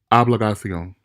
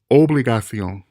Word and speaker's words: obligación: Many of us native English speakers might be tempted to pronounce this like obligación because of the way we pronounce the English word obligation. It would seem pretty natural to us. But in fact, this is not how you pronounce this word. And we must be cognizant of the differences in pronunciation. It's obligación, obligación, obligación.